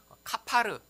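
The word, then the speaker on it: כָּפַר: 또한 바르다라고 하는 맨 끝에 역청을 바르다, 이 바르다라고 하는 이 단어도 원래 또 히브리어로 읽으면요, 카파르 혹은 코페르라고 읽는 단어예요.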